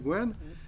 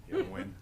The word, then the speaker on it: Nguyen: Win. Gwen, say it again? Nguyen? Gwen, Mr. Gwen? No, leave Um, it, Nguyen, drop the G. Win.